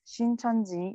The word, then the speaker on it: Shincheonji: Shincheonji, it's Korean name, so we pronounce Shincheonji in English.